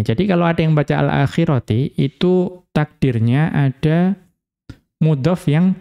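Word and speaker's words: الآخرةِ: Namun fi qiroati man jarro al akhirata. Mengikuti qiraahnya ulama qiraah yang membaca al-akhirah dengan majrur. Jadi bacanya bagaimana? Turiduna aradod dunya. Wallahu yuridul akhirati. Ya, dibaca alakhirati bukan alakhirata.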